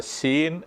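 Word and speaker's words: ܫܝܢ: അത് അതിൻറെ പേര് ഇതാണ് സീൻ എന്നാണ് അതിന്റെ പേര് വരുന്നത് സീൻ എസ്സിന്റെ മുകളിൽ ഇങ്ങനെ ഒരു അടയാളം കൂടി കൊടുത്തിരിക്കുന്നത് ഉച്ചരിക്കേണ്ടത് ശ എന്ന ഉച്ചാരണമല്ല സ എന്നല്ല ശ എന്ന ഉച്ചാരണം വായിക്കേണ്ടത് സീൻ എന്ന് വായിക്കുക സീൻ സീൻ എന്ന വാക്കിന്റെ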